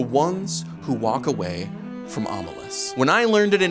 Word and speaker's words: Omelas: The ones who walk away from Omelas. When I learned it in 8th grade, my teacher pronounced it Omelas, and I recently learned it's probably pronounced Omelas.